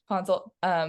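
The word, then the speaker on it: Ponsoldt: Yeah, Ponzel.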